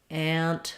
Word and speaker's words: ant: without the n and ant with the N that that n Sound gets a little bit nasalized so that's a good